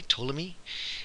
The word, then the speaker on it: Ptolemy: are told me and that P is silent by the way Ptolemy now Copernicus very famous